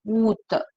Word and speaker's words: Août: Au, No, A is silent. Oot. Août, sorry.